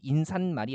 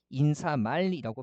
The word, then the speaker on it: 인사말: 그래서 하나 이상의 순우리말이 포함된 합성어고 앞말이 모음으로 끝나는데 얘도 예외적으로 인산말이 아니고요. 인사말이라고 발음이 돼요.